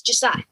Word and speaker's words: Ja'Siah: Now, I'm saying it correctly, right? It's Josiah? Yes, Josiah.